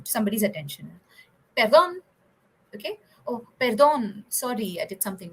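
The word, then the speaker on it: perdón: the next one is perdon in Spanish is a tongue rolling pronunciation so you should feel while you are pronouncing it is very useful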